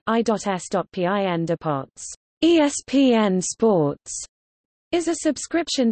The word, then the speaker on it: ESPN Deportes: ESPN Deportes, Spanish pronunciation, I.S.PIN Deportes, ESPN Sports, is a subscription television network that